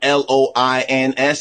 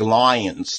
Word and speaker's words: loins: L-O-I-N-S. Even he begins to say it like lions, like it's lions or something like that. No, loins. L-O-I-N-S, not L-I-O-N.